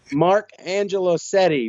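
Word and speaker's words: Mark Angelosetti: back to the throne well how is it pronounced mark angelo seti mr touchdown nerd it's good so you have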